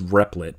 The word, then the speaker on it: Replit: And also, let me just mention that I call it Repellit. The official pronunciation, I believe, is Replit, but I'll keep using Repellit because that feels natural.